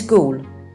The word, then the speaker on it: Goole: is a ghost-like figure his name is ghoul although it's spelled gol E is a homophone and can also mean